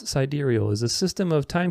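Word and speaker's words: sidereal: a huge difference anyway siderial time pronounce sideral is a system of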